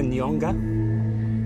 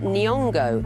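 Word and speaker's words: Nyong'o: do you know uh Lup nonga both wrong the actress's name is Lupita nongo next clue CH Jared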